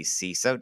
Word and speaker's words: CISO: am here with Kevin Gowan he is the ceso did I pronounce that right you did all right he